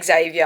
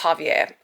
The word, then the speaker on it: Javier: Okay, I just say Xavier. I've got no flavor to me. Okay, but I've just listened to the audio and it's pronounced Javier.